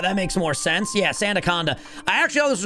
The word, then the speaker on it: Sandaconda: How do you pronounce this Pokemon's name? Sand coaster. What the hell is this Pokemon's name? Sandaconda. That makes more sense. Yeah, Santaaconda.